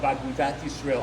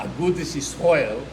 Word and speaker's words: Agudat Yisrael: been a member of Agudat Yisrael, Agudas Yisrael, in the Ashkenazi way of pronouncing it, in Galicia, in 1923.